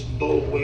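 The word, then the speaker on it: Boulware: Yeah, I spell It's Bowler is how it looks. B-O-U-L-W-A-R-E.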